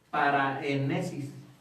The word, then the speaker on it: paraénesis: en un género llamado paraénesis. Paraénesis, lleva acento en la E, paraénesis, que proviene de la raíz griega exhortar, reprender o amonestar.